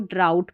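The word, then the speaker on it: drought: इसको बॉट, थॉट और इसको फ्रॉट पढ़ेंगे, और यहाँ पर इसको ड्राउट पढ़ेंगे, ठीक है। इसको ड्रॉट नहीं पढ़ना है, ड्राउट पढ़ना है।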